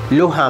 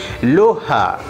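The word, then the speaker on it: lugha: so uh so g g is not pronounced it's not pronounced so we say luha so g is silent letter g is silent so luha means language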